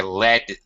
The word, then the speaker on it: lead: it's to lead but as a noun it is LED and it sounds the same but as a noun